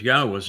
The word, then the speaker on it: Yahweh: Now, imagine the single most important discovery that I made along the way is to prove that Yahweh's name, YHWH, is pronounced Yahweh.